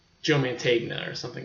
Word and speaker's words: Mantegna: like an extra a Joe man T Joe Mantegna or something like that he's in it because